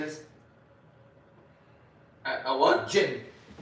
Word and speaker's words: jinn: You know what a jinn is? A what? Jinn.